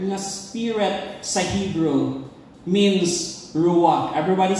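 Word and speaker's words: רוח: what ang word ng spirit sa Hebrew means ruak everybody say ruak ruak which means breath okay pero ang pag-pronounce anang rak it's mangak no rak ang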